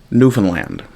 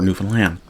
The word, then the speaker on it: Newfoundland: as the uh as the thumbnail shows the pronunciation of the place that I'm from and I'll say it once now. Newfoundland or Newfoundland depending on how quickly you're speaking.